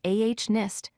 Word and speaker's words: honest: We write H-O-N-E-S-T, but we pronounce it as ah-nist, dropping the H sound at the beginning.